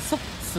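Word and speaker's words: 석수: このソックスっていうね、石に水って書いてソックスって読むんですけ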